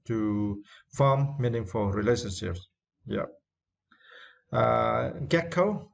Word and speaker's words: gecko: Gecko, and for this word you need to straight the first syllable.